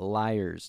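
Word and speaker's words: lyre: of uh 2500 BC so let's talk about liars now and no I'm not talking about people that lie I'm talking about the instrument the liar which is spelled l-y-r-e the liar was invented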